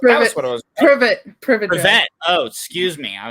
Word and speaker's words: Privet: The world will keep on spinning if you don't remember the exact friggin' 4 numbers on Privy Drive. Is that what it was? That was what it was. Privet.